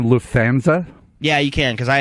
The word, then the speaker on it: Lufthansa: set the record straight and how is it Lufthansa Lufthansa yeah yeah why they have to put